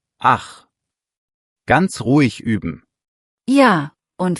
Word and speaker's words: ach: Kurzer Tipp zur Aussprache, weil viele da kämpfen. Ich mit weichem CH wie Luft. Und ach mit hartem CH tief im Hals. Ich, ach.